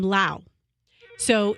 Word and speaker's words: Laos: mostly either Thai or sushi however they're from Lao so it's loud I'm not saying